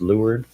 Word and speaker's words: Leeward: Far Shores Lord Shores Leeward Shores is pronounced lured it's a sailing nautical terminology so if it only